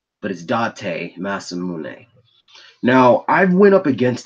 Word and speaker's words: Date Masamune: It's spelled Date. I know it spells like date, but it's Date Masamune.